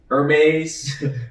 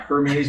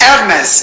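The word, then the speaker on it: Hermès: Actually, excuse me, that is pronounced Hermes, not Hermes. We just figured that out recently. Hermes. Now pronounce that correctly. Hermes. Again. Hermes. Again. Hermes. Hermes. Hermes. There's an H. You don't pronounce.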